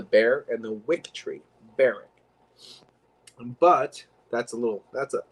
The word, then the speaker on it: Berwick: and people call it barrick burke berwick it's barrack that's the way you pronounce it if you're english because it's named after the bear and the wick tree barrack but that's a little that's a that's a